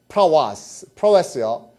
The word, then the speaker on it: prowess: prowess요. 용기, prowess, 용기. 그렇죠? 이 발음이요. prowess도 아니고요. prow까지만 쓰면 돼요. prowess예요. prowess. 그렇죠? 이거 prowess가 아니고 prowess. 그렇죠? prowess.